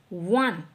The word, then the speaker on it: one: आप इसे प्रोनाउंस कीजिए। वन ये ऑन नहीं बोलना इसको। है ना? ये वन होता है ना नंबर वाला वन टू थ्री वाला। तो साउंड तो व की आ रही है।